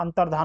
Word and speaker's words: अंतर्धान: लग रहा है अंतर्धान अंतर दन द क नहीं आता है अंतर्धान होता है सीधे द नहीं आता है तो यह तीनों